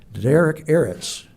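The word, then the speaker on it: Derech Eretz: There's a term that Jordan is going to pronounce for me now, Derek Eretz.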